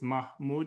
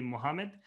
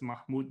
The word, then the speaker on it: Mahmoud: name is mahmoud i know sometimes people call me mohammed technically it's ma mah and then mood m-o-o-d if you wanted me to pronounce in the fanatical way so it's mahmoud i'm the chair for